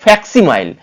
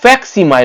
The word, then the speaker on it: facsimile: তাহলে এটিও হবে না, এটিও হবে না, এটিও হবে না, তাহলে যেটি হবে ফ্যাক্সিমাইল, অর্থাৎ FACSIMILE। ভেঙে ভেঙে উচ্চারণ করুন, ফ্যাক ফিএসি ফ্যাক, সি ফ্যাক্সি, MILE মাইল, ফ্যাক্সিমাইল। বোঝা গেল?